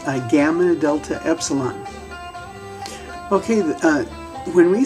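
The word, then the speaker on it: γάμμα: of your soft palate so gamma it's where you say the gu it's in the very same place where you say the gut but now you're going instead of making a stop release you're going to hold your tongue there and continue that sound vibrating the the m sound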